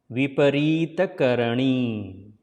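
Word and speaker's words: Viparita Karani: Slide the tongue in hard palate when you produce the N sound. So Ra. Ra. Not na. Ra. So it will be Vipareeta Karanee. Vipareeta Karanee.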